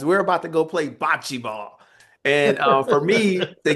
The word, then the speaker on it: bocce: Bocce ball, am I pronouncing that correctly?